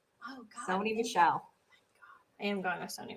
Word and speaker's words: Michel: I pronounce his last name Sony Michelle, but it's not. Is it Michelle? Okay. I get nervous sometimes. How else would you say it? I don't know, like Mikel. You said it right.